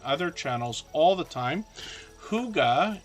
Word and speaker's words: Hygge: Huga is how we pronounce that word, Hygge, and it means peaceful, cozy, peaceful home in Danish.